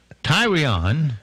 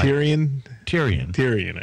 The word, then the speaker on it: Tyrion: Tyrion, I hope I'm saying that right. Tyrion, I think.